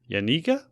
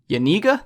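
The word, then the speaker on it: Janiga: from passing Emily Jenga how would you pronounce that Phil yanika yaniga that sounds legit we're gonna go yaniga for eighth place in butte's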